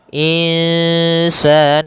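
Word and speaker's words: إنسان: Yaitu secara membacanya itu nunnya kita samarkan kepada huruf sin. Kemudian terdengar suara samar-samarnya in insan insan. Panjangkan dulu dengungannya atau panjangan dulu ikhfanya. Panjangkan dulu bacaan gunanya dua harakat in dan itu tipis ke huruf sin insan.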